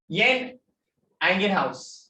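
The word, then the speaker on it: Jan Ingenhousz: Next is येन एंगेनहाउस। क्या नाम है? येन एंगेनहाउस, ठीक है। लिखे है जैन, ठीक है, बट वो जे प्रोनाउंस नहीं होता है।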